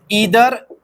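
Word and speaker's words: either: तरह के वर्ड्स देखिए, ईदर, नीदर, इसे आइदर और नाइदर भी पढ़ सकते हैं, ठीक है, कोई कैद नहीं है प्रोनाउंसिएशन की, ठीक है। दो स्टैंडर्ड प्रोनाउंसिएशंस अवेलेबल हैं डिक्शनरी पे भी, वन is British English means British pronunciation and द अदर is American pronunciation.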